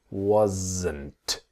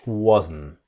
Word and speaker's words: wasn't: So the S is like a Z, wasn't. And then wasn't becomes wasn't. I wasn't. She wasn't. It's the N sound. The T is silent, so the wasn't.